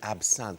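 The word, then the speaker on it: absinthe: your heart grow fond absinth of course told you pronounce it absen but the gag doesn't work quite as well does it if you pronounce it correctly um didn't work very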